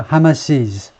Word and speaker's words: Hamas's: 이거는 소리가 달라집니다. 하마스가 아니고 하마시즈.